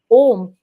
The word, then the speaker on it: Om: in Hindi also because the pronunciation is more close when we say om a u m or by writing om